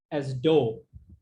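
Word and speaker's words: ∂: d over here, and you can simply pronounce it as dou, right?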